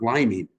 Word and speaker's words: liming: Great term, liming. I looked it up because I never heard it before. It's How do for you real. spell it? Like a lime, Liming.